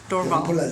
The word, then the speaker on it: Dorval: Dorval. Dorval. It's like the Montreal airport. Dorval.